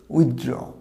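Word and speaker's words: withdraw: এখানে যেন মনে হয় টিএইচটা হবে না, কিন্তু না, টিএইচটা হবে। মাঝে মাঝে বলি কিছু ওয়ার্ড সাইলেন্ট, লেটার সাইলেন্ট থাকবে, এখানে লেটারটা হবে। উচ্চারণটা হবে উইথড্র। উইথড্র, টিএইচটা হবে, তবে শেষের যে আমাদের AWটা আছে, ড্রয়ের AWটা ও সাউন্ড হবে, কিন্তু প্রথমে টিএইচটা হবে।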